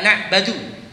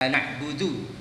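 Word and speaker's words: نعبد: kita baca Alfatihah iyaka na'budu wa iyaka nastain dia bacanya iyaka na'badu saya bilang salah kamu iyaka na'budu Oh ya ya ya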